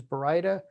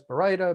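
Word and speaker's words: Baryta: very difficult name for people to pronounce correct pronunciation is brida this slide also has berida burrita berida barda bioarta berita i guess harry potter reference and then of course burrito because people can't remember brida but it is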